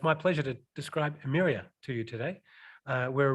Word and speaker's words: Emyria: And I just want to double check my pronunciation. Would you please say? Emyria. Emyria, it is Emyria.